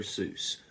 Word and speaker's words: Seuss: Seuss. Actually pronounced Seuss, but The time has come.